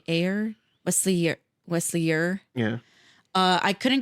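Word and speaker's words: Eure: Another thing that I could not shake is that the actor playing Will, his last name is spelled E-U-R-E. Would you spell Ure? Yeah, you're. Air?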